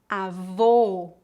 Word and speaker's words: avô: diferença agora vamos praticar as palavras avó com o aberto e avô com o o fechado repita depois de mim